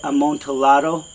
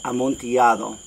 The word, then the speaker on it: amontillado: life oh and it's some people will say amontillado and that's because they don't read spanish but it's amontillado all right so the